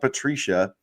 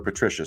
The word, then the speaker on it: Patricia: Matt Patricia, or Patricia, sorry, I guess I mispronounced that.